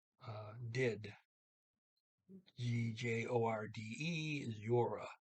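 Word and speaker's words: gjorde: pronounce uh did g-j-o-r-d-e yora the d is silent um okay and i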